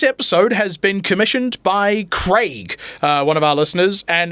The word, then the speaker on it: Craig: of our listeners, and it's always bothered me that Americans say Craig. Oh, yeah, But then they don't say egg, they say egg. Craig. I say Craig. We say Craig and egg as God intended.